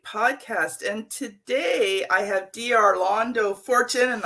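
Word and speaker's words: D'Arlando Fortune: And today I have Arlando Fortune, and I don't even know if I came close to saying that correctly. You said it right.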